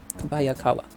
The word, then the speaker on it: Kobayakawa: Kobayakawa.